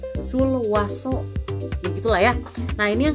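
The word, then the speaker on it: Sulwhasoo: Aneh sebenarnya, kayak ya emang di websitenya itu kalau nggak salah bilangnya Suraso, cuman di sini kalau aku bacanya sih Sulwaso, ya gitulah ya.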